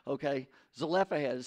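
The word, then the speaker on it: Zelophehad: chapter 27 verses one through seven this is as a hell of excuse me it's a le this is a left ahead i've pronounced it wrong my whole life and i'm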